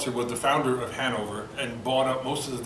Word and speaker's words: Hanover: stopped visiting called Hanover, Hanover. So he goes, Hanover. The Germans pronounce it Hanover. He dropped the middle end, Americanizing it into our current day, Hanover, and the sales took off.